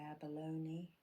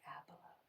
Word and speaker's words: abalone: The Americans say abalone. I am English, so I say abalone.